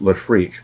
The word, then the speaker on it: Lefreq: to make the connection that is pronounced lefreque because it means frequency not refractors and a lot of